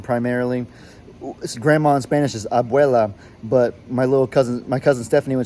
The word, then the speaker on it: abuela: And grandma in Spanish, because we're Spanish speaking primarily, grandma in Spanish is abuela, but my cousin Stephanie, when she was little, couldn't pronounce it right, so she would say like huela instead of abuela.